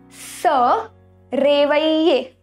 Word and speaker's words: se réveiller: Se réveiller, which means to wake up in English. So here you see double L is pronounced as ye. Ye. So we say se réveiller.